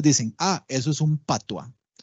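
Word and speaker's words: patois: Ah eso es un patua y patua se escribe p a t o is es una forma despectiva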